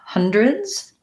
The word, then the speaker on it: hundreds: So the word hundreds, I have first syllable stress, vowel schwa there, and then the E kind of says more of an I vowel, hundreds. D-R-I. And then that S says a Z sound.